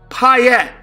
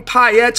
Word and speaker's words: Payette: is my last name, Payette. Is there a coincidence there that my last name, Payette's a two-syllable word and the first syllable's pi, and I've been using